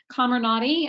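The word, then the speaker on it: Comirnaty: fda approved pfizer vaccine camera nadi i believe is the way that you're going to pronounce that um is that actually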